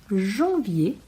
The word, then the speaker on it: janvier: Os meses do ano são janvier, lembrando que o AM tem som de an, e esse R no final vira como se fosse um acento circunflexo. Janvier, février, o E bem pronunciado no início porque tem um acento agudo.